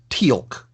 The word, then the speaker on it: Teal'c: episode his name is Teal'c which is spelled like the color with a letter C at the end because apostrophes I guess anyway